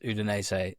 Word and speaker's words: Udine: Always love that you pronounce Udinese like Udinese.